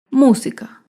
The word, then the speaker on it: música: Por ejemplo, la palabra música. Música se acentúa en la antepenúltima sílaba.